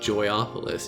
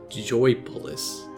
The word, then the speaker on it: Joypolis: Hey, wait a minute, I've been saying it wrong, it's not Joyopolis, it's just Joypolis.